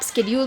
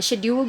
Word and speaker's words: schedule: तो अगर आप स्केड्यूल बोल रहे हैं वो भी सही है, अगर आप शेड्यूल बोल रहे हैं वो भी सही है, ठीक है?